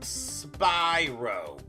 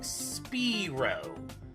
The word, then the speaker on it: Spyro: the title characters name name is pronounced it's pronounced Spyro not speo ah good times anyways each of the games